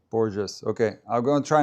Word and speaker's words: Borges: Just Portuguese and Brazilian please no Spanish. Borges with J Borges okay.